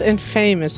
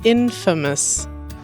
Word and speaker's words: infamous: I think it's not infamous. I think it's infamous.